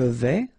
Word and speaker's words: vais: Je vais, final S not pronounced here, and remember when you combine this A and E together, you get the sound E, so really open.